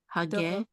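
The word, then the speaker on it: הגדולים: So say this whole syllable right here. Lim. Lim. So let's say the whole word. Hagedolim.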